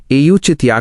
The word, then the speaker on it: औचित्य: इसका उच्चारण है एयू चितिया का प्रश्न।